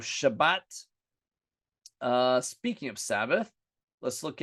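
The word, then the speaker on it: שבת: In Greek, they couldn't say sh, so they represent with a S sound with a sigma. That's why we say Sabbath instead of Shabbat.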